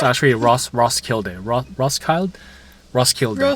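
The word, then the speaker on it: Roskilde: I call this place Rocklide. I know that's not how you say it, but we also I agree. Ross, it's it's like Rosskild.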